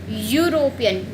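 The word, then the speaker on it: European: अब यू, आप पढ़ो इसको, प्रोनाउंसिएशन देखो इसकी, यूरोपियन, यहाँ पे भी य आ रहा है, तो यहाँ पे भी अ ही आएगा।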